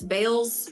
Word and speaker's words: Bayles: l yes and yes Bales is the correct correct way to say my last name um usually people say